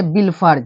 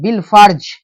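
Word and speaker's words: بالفرض: इसमें क्या करेंगे कि अलीफ को छोड़ेंगे लाम को पढ़ देंगे जैसे ये पढ़ेंगे बिल फर्ज ये अलिफ को क्या कर देंगे साइलेंट लिखेंगे लेकिन इसको नहीं पढ़ेंगे ये बिल डायरेक्ट इसमें मिल जाएगा बेला में बिल फर्ज ठीक है अब ये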